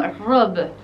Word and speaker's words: robe: Y en francés se pronunciaría como robe. Robe. Robe. Sin pronunciar la E del final, sería vestido.